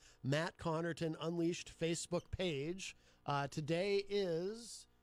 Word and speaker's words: Connarton: Well, sort of, because it's pronounced Connarton. So the most common misspelling of my last name is Connerton. People replace the A with an E because it sounds like that.